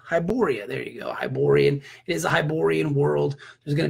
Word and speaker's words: Hyborian: the Barbarian world it is however however you pronounce it uh hi poor poor bia hi hi Borya hi Borya there you go Hyborian is Hyborian world there's gonna be lots and